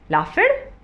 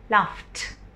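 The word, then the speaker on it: laughed: ठीक है, similarly LAUGH लाफ, लाफ, इसको कैसे बोलेंगे, लाफड या लाफड, नो, इसको हम बोलेंगे लाफ्ट, लाफ्ट।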